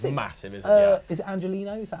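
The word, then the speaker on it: Angeliño: Is it Angelino? Is that how it's said? Yeah. Angelino, he was really impressive last night as well, which I didn't quite expect having seen him at City.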